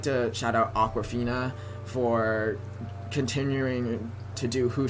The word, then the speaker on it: Awkwafina: It's by Awkwafina. Awkwafina is spelled Akwafina. It sounds like the Aquafina water, but she spells it differently.